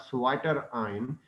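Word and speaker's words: zwitterion: So that's why this is called Sweater ion, in fact. So this is a SWI. It is ZWI SWI. It is been pronounced SWI, but it is written ZWI Sweater ion.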